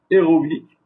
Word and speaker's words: héroïque: Donc il divise la tonalité ou la sonnerie du mot.